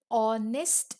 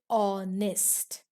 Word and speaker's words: honest: this word we say honest man we don't say honest here h this letter is silent so the beginning h is silent in these words these words are used